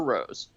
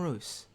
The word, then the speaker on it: Roose: in august when kevin so does he pronounce it rooster rose uh i'm not sure actually oh oh from the new york times oh kevin uh kevin uh i think it's kevin roose it is ruse okay so he did